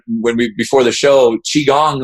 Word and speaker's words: qigong: we before the show qigong the hardest part about this practice is to say the name because it's spelled q-i-g-o-n-g now let's demystify it